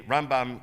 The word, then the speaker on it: Rambam: be confused with rambam usually rambam gets pronounced on the first syllable ramban on the last syllable the last letter is